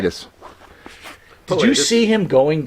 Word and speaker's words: Pilatus: But the bigger question I have for you is, and I want to make sure I pronounce his name right. Rob Pilatus. Is that right? Pilatus.